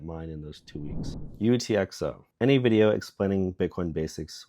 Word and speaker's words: UTXO: into a single value the phrase utxo pronounces letters stands for unspent transaction